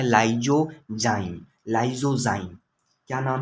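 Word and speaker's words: lysozyme: उसका नाम है लाइजोजाइम, लाइजोजाइम। क्या नाम है, लाइजोजाइम, लाइजोजाइम।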